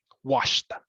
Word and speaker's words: washed: For example, the word wash is just one syllable. When we add the ed, it's still one syllable, washed, right? Just an extra sound, that brief T at the very end.